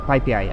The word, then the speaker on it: PyPI: It's already installed from PIP, from PyPI actually. That's how you pronounce it, from the Python packages.